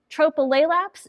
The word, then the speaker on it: Tropilaelaps: Tropleaps is how we pronounce it. Um it's a lot to get out of your mouth and a little bit of a tongue twister. So a lot of times we just call it tropy mites.